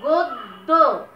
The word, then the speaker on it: গদ্য: গদ্য, গদ্য, দ দুইবার উচ্চারণ করছো এবং মাঝের যে দটা আছে এইটাতে কিন্তু কোন রকম মানে স্বরধ্বনি সাহায্য নাই। গদ্য, আমরা গো দ দ এইভাবে উচ্চারণ করছি না, যেহেতু নাই স্বরধ্বনি সেহেতু এখানে একটা হস চিহ্ন হবে।